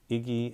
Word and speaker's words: IGI: The next item, I'm not sure if I'm pronouncing this right, but I'm going to say Iggy and Company shoes, but it's spelled IGI and Company shoes.